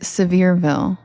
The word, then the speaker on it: Sevierville: Pronounced Sevierville. Oh, thank you. Sevierville. Not Ville at all.